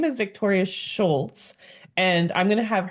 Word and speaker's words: Scholz: It's actually Scholz, but it's just German, and that's fine.